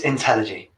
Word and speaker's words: Intelligy: You just said it in Everyone gets it wrong. It's Intelligy. Intelligy.